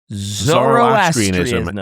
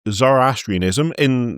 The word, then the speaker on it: Zoroastrianism: a lot of us, we will put an R in the middle of a word where there is no R. It's like a joining of the words. Mm-hmm. So Zoroastrianism is really tricky because I want to stick an extra R in there, and I do it every time.